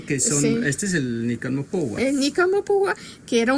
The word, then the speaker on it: Nican Mopohua: ¿Cómo lo pronuncia usted? Nican Mopogua.